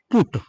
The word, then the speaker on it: put: अब देखिए, जब पी के साथ यूटी जुड़ा तो यहां पर यू का उच्चारण आपका ऊ हुआ, छोटा ऊ। और जब ओ से पहले लिखे अल्फाबेट के साथ हमने यूटी को जोड़ा, तब वहां पर यू का उच्चारण क्या हुआ? आ हुआ। तो यहां से क्लियर हुआ कि हम इसको क्यों बट पढ़ते हैं और इसको क्यों पुट पढ़ा जाता है।